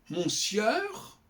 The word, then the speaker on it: monsieur: J'écris ça monsieur et je dis monsieur. Pourquoi? Ça ne choque personne. Et pourtant, ce n'est pas du tout évident.